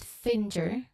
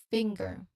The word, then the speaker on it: finger: It's not finger, okay, with a hard G after the separate N. It's a smooth flow. Try finger, feeling how the NG and G sounds connect. Okay, finger.